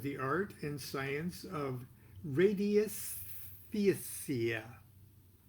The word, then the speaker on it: radiesthesia: art and science of radiesthesia. I have no idea how to pronounce that, so I'm going to spell it for you. Radii, R-A-D-I-E, S-T-H-E-S-I-A. Radiesthesia. I doubt that's how it's pronounced.